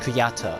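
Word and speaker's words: Kujata: and I also learned that uh this is pronounced kuyata and it comes I'm pretty sure it comes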